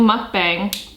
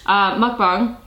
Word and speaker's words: mukbang: What I should have done though is turned on a YouTube video of someone else doing a mukbang, I'm saying it wrong, mukbang, but in silent.